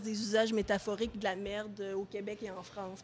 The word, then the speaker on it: marde: la plupart du temps l'on écrit et l'on prononce merde ce que j'appelle une forme majeure il arrive encore d'entendre surtout et parfois de lire marde appelons la forme mineure qualifié par les spécialistes de déformations phonétiques populaires très répandue et donc